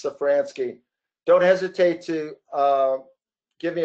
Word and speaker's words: Safransky: The Z is silent, so it's Safransky.